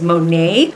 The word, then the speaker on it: Monat: i started using and now i realize the pronunciation is monet i just got it wrong monat monate um it's